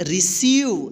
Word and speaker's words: receive: रिसीव। देखिए यहाँ पे EI यानी EI एक साथ आया है तो इस EI का E उच्चारण होगा, यानी बड़ी E की हम उच्चारण करेंगे मात्रा, ठीक।